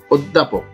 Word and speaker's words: অধ্যাপক: এখানেও জফলা কেন উচ্চারণ হচ্ছে না, এই ব্যাপারে জফলার উচ্চারণ ক্লাসটি দেখে নেবেন ইনশাআল্লাহ। সঠিক উচ্চারণ হচ্ছে অধ্যাপক।